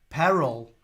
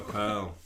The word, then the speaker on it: Pearl: Paul, my heart melted when you named one of your cockatoos Peril, but I think it's Pearl, isn't it? But the way you pronounce it, it sounds like Peril, like Beryl the Peril. No, Pearl.